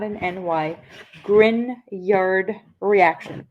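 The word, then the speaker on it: Grignard: GN not an ny grard reaction pronounced with a Y spelled with a G the ginyard is very interesting because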